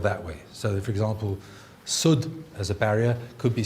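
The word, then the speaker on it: سد: The word sud is a barrier, and it could be pronounced as said or sud, and they're dictionary-wise exactly the same.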